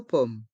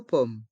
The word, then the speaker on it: pomme: une tarte au pomme dans le mot pomme le M reste en suspens on entend le son m une tarte au pommees une tarte aux pommes une tarte aux pommes une tartelette aux fraises